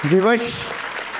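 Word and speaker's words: विवश: Vivash is the original. You mispronounce Vivash. When you mispronounce Va, it becomes Ba.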